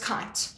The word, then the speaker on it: Keight: So it's actually pronounced kite. Okay. Okay. So. As in go and fly kite.